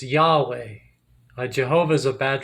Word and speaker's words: Yahweh: in English and uh when you try to pronounce the tetragram the tetragrammaton it's uh it's Yahweh a Jehovah is a bad translation it's a better translation is Yahweh though they argue not everybody agrees um but